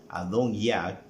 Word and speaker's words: Adonías: Recuerde que el hijo mayor de David era Adonías, que en hebreo se pronuncia Adon-Yah.